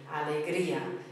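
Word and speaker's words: alegría: experience this emotion Allegria alria means Joy Allegria if the accent wasn't there it would be Allegria but it's Allegria um I've chosen this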